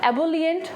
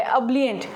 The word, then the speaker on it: ebullient: Next है हमारा अब्लिएंट, अब्लिएंट, इसे हम एबोलिएंट नहीं पढ़ेंगे, थोड़ा सा इसका प्रोनाउंसिएशन टफ है, इसलिए मैंने इसको हिंदी में भी लिख दिया, इसका प्रोनाउंसिएशन मैंने हिंदी में भी लिख दिया है अब्लिएंट, ठीक है।